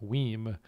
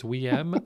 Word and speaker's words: WiiM: So like the Nintendo Wii with an M at the end. So I'm going with WiiM.